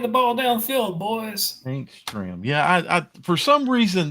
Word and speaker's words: Stram: His name rhymes with ham. Yes, so I was wondering. Yeah, you talking about Stram, Yep, Hank Stram.